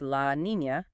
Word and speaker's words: La Niña: pronounced El Niño, pattern to a La Niña, pronounced La Niña.